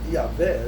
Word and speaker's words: Yahvé: O hassidismo não se dirige a Deus pelo nome apresentado na Bíblia, aquele tetagrama sagrado, né, que a pronúncia mais próxima seria Yahvé.